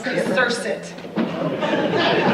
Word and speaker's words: Kazursit: It's Kazursit. Z is silent.